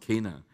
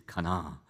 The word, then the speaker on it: Cana: was a wedding in Kana in Galilee I think that's how they pronounce it having been to Israel and Turkey they say it's not Cana it's Kana k and a right and the mother